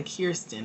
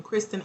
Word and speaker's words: Kristen: I keep wanting to say Kirsten. My brother's name is Kiersey, so anytime I see that name, my brain instantly goes to how we pronounce it for him.